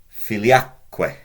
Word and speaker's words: filiaque: And the other thing to note about this, we're told in the grammar books that the stress goes on the syllable immediately after the que. So us there. Normally it's just filius, but filiusque. Filia, normally filiaque.